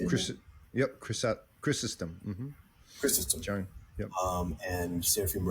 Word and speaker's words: Chrysostom: Yep, Chrysostom.